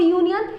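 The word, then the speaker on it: union: हम इसलिए article a का यूज़ करते हैं क्योंकि जब भी हम इसे प्रोनाउंस करते हैं तो ये कभी भी वॉवल साउंड प्रोड्यूस नहीं करता, ये हमेशा कॉन्सोनेंट साउंड प्रोड्यूस करता है।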